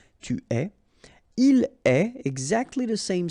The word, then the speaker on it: tu es: Okay, so je suis, final S not pronounced, tu es, okay, so it's quite strange because you get this ES, but then phonetically it's est, alright, quite open, tu es.